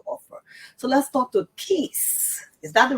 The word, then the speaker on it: Keith: So let's talk to Keith. Is that the right pronunciation? Sure, Keith.